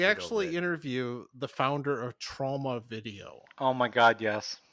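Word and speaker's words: Troma: I think I think they wanted to be pronounced like trauma, but they also say trauma, and I think trauma is the actual name.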